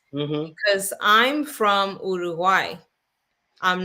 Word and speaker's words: Uruguay: You say Uruguay. If you can't say Uruguay, then you can say, at least try to get closer and say Uruguay, but don't say Uruguay because that's not how you pronounce it.